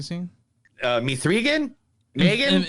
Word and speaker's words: M3GAN: uh me three again Megan how do you pronounce it it's Megan but but I'm called name